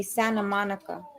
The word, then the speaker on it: Santa Monica: They say you don't pronounce the T Santa Monica. You say Santa Monica.